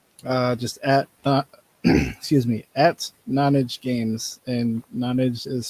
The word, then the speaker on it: Nonage: And then most social medias, we are just at excuse me, at Nonage Games, and Nonage is spelled Nonage. Basically like non-age is how I think of it.